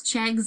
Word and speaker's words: Chegs: I pronounce my last name Chegwidden, and I say it's Chegs like legs, so they remember it's only one G.